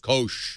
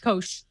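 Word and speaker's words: Koush: Kosh. Kosh. There's a U, but the U is silent. Yep. Kosh.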